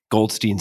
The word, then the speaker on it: Goldstein: Is it Goldstein or Goldstein? I always mix this up because there are so many different Goldsteins and Goldsteins. How does he pronounce his last name? He's a Goldstein, yes.